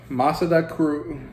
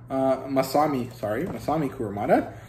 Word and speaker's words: Kurumada: Masada Kuru, wait, no. Well, Kurumada's work, whatever his first name is. Masami Kurumada.